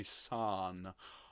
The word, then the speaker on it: son: jesus lala by my son son please as if is spelt s-a-r-n all right nice big open mouth sound so let's look